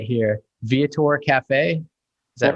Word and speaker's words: Viator: Viator Café. Is that right? That's right. Yep. Viator Café.